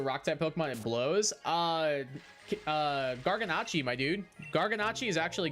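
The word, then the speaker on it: Garganacl: Garganacci, my dude. Garganacci is actually good. Or Garganical, for those of you who want to mispronounce it.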